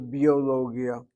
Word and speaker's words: ביולוגיה: How many syllables? Bio is B. B is one syllable. Yo is the second. Lo is the third, Gi is the fourth, and Ya is 5. 5 syllables to biologia.